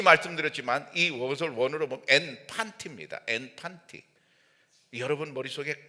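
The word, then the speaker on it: ἐν παντί: 앤판티를 묵상하다가 어떻게 이것이 우리 생활에 젖어들 건가 딱 생각나는게 있더라고. 팬티더라고. 발음이 똑같아. 그냥 해도 돼. 앤 팬티 그래도 똑같아요.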